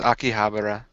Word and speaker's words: Akihabara: The whole game takes place in Akihabara, Akihaba, I think. Yeah, I don't know how to pronounce that. And the whole You're game in Japan. has been, It was Akihabara.